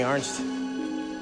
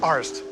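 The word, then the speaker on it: Arzt: Let me ask you something, Arnst. Arst. Arnst. No, not Arst. Arst. A-R-Z-T. Arst. Sorry, man.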